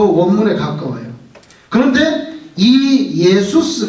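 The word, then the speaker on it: Ἰησοῦς: 그리스말로 보세요 예수스 단어가 예수스 예스를 영어로 고대로 번역해 가지고 렇게 만들었어요 그래서 발음이 뭐가 됐어요 지저스가 됐어요 지저스 근데 지스만 원래 발음은 예수스 예수스 크리스토스 이렇게 되는데 한국말이 더 정확해요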